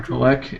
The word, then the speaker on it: Kolek: See, but it's Kolek? Yeah, Tyler Kolek.